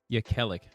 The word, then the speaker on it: Jekielek: This is American Thought Leaders, and I'm Jan Jekielek. Jekielek, that's how you say his name.